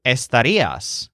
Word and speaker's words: estaría: Similarly, estaría can change to estarías, you would be, or estarían, they would be, and so on. But again, we won't worry about these extra forms for now. Just remember the stressed syllable ría, and the word estaría